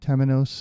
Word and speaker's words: Temenos: I want to tell you about this company Temenos is how I'm gonna pronounce it they are the world's number one